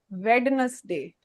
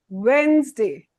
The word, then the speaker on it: Wednesday: It's not Vness day. It's Wednesday. Happy Wednesday.